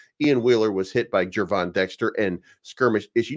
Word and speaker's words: Gervon: me it's J uh which is why it's pronounced that's why that's why jvon starts with a J du next play vus